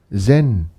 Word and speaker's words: Zen: Zen is Japanese pronunciation for the Chinese word Chan.